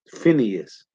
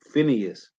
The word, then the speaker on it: Phineas: Phineas. Okay, Phineas. So back in First Maccabees, Salakia. So it say First Maccabees 2:26. Thus dealt he zealous for the law of God, like Phineas did unto Zimri, the son of Salom.